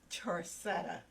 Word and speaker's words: Charcetta: You pronounce it for us. It's Charcetta.